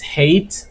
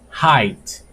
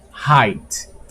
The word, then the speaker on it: height: We may think is hate, but it's not hate, it's height. The pronunciation is height.